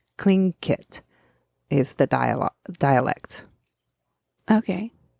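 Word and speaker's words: Tlingit: spelled TL i n g t but it's pronounced clink kit is the dialog dialect okay the glacier was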